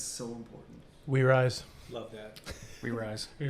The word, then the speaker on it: Rizse: Rise, R-I-Z, as in Z-S-E.